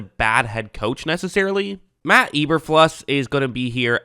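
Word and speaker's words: Eberflus: think is a bad head coach necessarily Matt eberfuss is going to be here at uh eberfloose I believe it's how you say it actually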